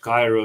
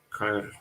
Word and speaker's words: Cairo: Oh, it's pronounced Cairo, like chiropractic. Okay, Cairo.